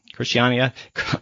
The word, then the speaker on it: Christiana: of all congratulations that you have properly pronounce my name with a Spanish accent but clearly denotes that